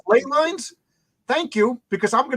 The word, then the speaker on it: ley lines: That's why I watched it's pronounced ley lines.